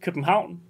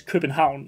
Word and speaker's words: København: In Danish, København. Very far away from Copenhagen, but it is København in Danish. København. But is it 1 Quebec, 2 New Orleans, 3 Copenhagen or København, or 4 Bolivia?